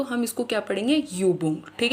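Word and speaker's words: Übung: जब ये यू के ऊपर उमलाउ होगा तो हम इसको युबंग पढ़ेंगे।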